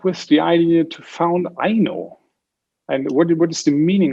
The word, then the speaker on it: Aino: roots there but also if you are pronouncing that in the usa so it's i know why we started this